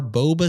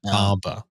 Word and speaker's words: Bomba: I just heard Boba I think I even pronounced that wrong it's SAR bom bom yeah bomba yeah that was the